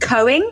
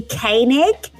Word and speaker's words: Koenig: first episode on cereal I pronounce Sarah the presenter of that name massively famous as Sarah Cohen I think I said and it's actually Koenig and it has taken